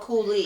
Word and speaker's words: coulis: And you pronounce it coulis or coolie? Coolie, because I had to look up how it was pronounced. Coolie. Yeah, Okay. it's coolie.